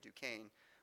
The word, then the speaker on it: Duquesne: the words necessity and Duquesne. Yes, that's how you pronounce that French fort up there, Duquesne.